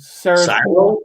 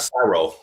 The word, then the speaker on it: Sado: Sado, Sado, D, Delta, Sado. Sad, not Saro.